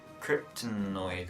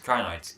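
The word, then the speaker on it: Krynoid: Also, the other one I thought was the Kryptonoid, wasn't it, from the Seeds of Doom? Oh, the Crinoids. Crinoids, that's how you pronounce it.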